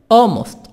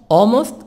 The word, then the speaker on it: almost: ala Elmore Cayetana Haqqani almost almost L silent often Cecil almost often